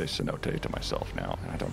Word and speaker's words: cenote: game green hill and i saw that word c-e-n-o-t-e and i was like i i have no idea how to pronounce this and then i had to look